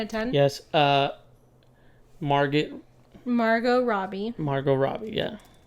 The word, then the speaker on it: Margot Robbie: Robbie Margot Robbie yeah I always say her name wrong what do you what do you say Margaret Robbie but it's yeah it's your Spanish accent I know it is it's that heavy thick accent you got uh yeah